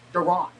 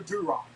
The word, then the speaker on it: Duran: It is It is pronounced Duran. Not not not you know Drew Rock.